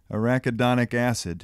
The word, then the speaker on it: arachidonic acid: Arachidonic acid.